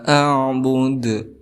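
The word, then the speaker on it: أَعْبُدُ: Abiduna ma a'bud. Ma di sini juga dihukumi sebagai mad jaiz munfasil, panjangnya boleh 2 sampai 6 harokat. A'bud di sini dihukumi sebagai qalqalah kubra karena ada huruf qalqalah yaitu dal di akhir kalimat ataupun diwaqafkan.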